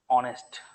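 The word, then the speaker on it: honest: और से रिलेटेड और भी वर्ड्स हैं जो H से स्टार्ट होते हैं but there pronunciation starts with uh, for example ऑनेस्ट, ही इज एन ऑनेस्ट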